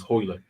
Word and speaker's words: Royler: Royler? Yeah, but they pronounce it's Portuguese, so they pronounce the R's with an H, so it's Hoyler.